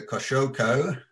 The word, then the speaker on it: Kosciuszko: Martin is a music producer known for his creative work under the Kosciuszko, and that's correctly pronounced.